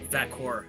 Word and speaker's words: Vaquer: Champion uh Stephanie valkur I don't know how you pronounce her last name valkur uh VOR VOR so Stephanie VOR and they didn't really